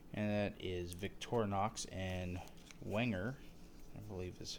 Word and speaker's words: Wenger: There are two companies that are authorized or make Swiss Army knives, and that is Victorinox and Wenger, I believe is how it's pronounced.